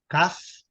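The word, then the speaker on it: calf: Caf, Raf. A pronúncia é Caf e Raf.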